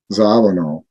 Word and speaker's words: Zawinul: But how do you pronounce the guy's name? Zawinul.